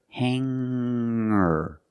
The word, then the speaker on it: hanger: When I change these words with ER, I don't pronounce the G sound. It's just the nasal linked together with the Together, hanger, hanger. There's no G sound. I cannot say hanger. I cannot say singer.